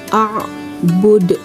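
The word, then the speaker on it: أَعْبُدُ: Caranya membaca yaitu dengan memantul lebih keras. Perhatikan bacaan ibu. A'bud.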